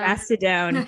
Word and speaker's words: Mastodon: And actually that new platform, and I can't pronounce the name, is it Mastodon? Yeah. Mastodon.